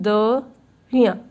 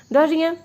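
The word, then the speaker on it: de rien: not, we will say Dariya, Dariya. Please give some space between the riya. This is not Dariya. This is the riya. Give some space between the riya. Dariya.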